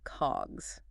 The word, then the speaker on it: COGS: Cod GS for short it's pronounced just like the word cogs okay CGS got it